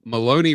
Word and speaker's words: Maloney: Well, Maloney rhymes with baloney.